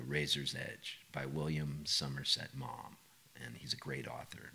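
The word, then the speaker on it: Maugham: book called The Razor's Edge by William Somerset mom and he's a great author mom is spelled m g hm fantastic I think he's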